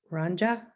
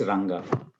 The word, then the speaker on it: Ranga: Ranja, did I say it correctly? It's Ranga. Ranga.